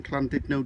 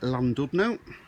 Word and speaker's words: Llandudno: This was taken in part exchange at my brother's garage, Junction Auto Park in Llandudno Junction, or as the English like to pronounce it, Llandudno.